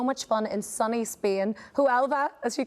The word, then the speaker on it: Huelva: Huelva, as you correctly pronounce, Martin. Huelva. Huelva.